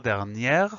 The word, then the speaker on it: dernière: l'heure on va dire dernière ça nous permet d'entendre ce r attention attention quand on écrit dernière pour avoir le son est à la dernière syllabe il faut ajouter un accent grave sur le donc ça nous